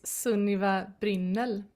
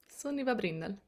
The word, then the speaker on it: Sunniva Brynnel: So my full name is Sunniva Brinel. Suniva Brinel. That's how you say it in a in the Swedish accent.